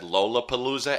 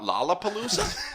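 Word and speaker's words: Lollapalooza: out of him because he said lolapalooza and not lalapaloosa hey dude what what's wrong with lolapalooza the only thing is that's wrong with it is that that's not how you say it okay get cow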